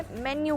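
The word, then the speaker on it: menu: उसे क्या कहते हैं उसे मेनू कहते हैं नहीं उसे मैन्नू कहा जाता है तो क्या कहा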